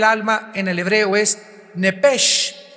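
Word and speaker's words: נפש: en el hebreo es nepesh, se pronuncia nepej, la CH en hebreo se pronuncia como J, nepesh, murió.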